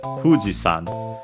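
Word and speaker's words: 富士山: Yeah, in the case of Mount Fuji, Fuji is accented on the first syllable, and yeah, it stays like that. So Fuji-san, high, and everything else low.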